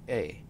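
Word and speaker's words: え: This is A, or A. It is equivalent to the vowel E in English. You pronounce this as A. A is a short vowel.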